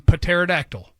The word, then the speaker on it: pterodactyl: That, and I like to pronounce the P in pterodactyl.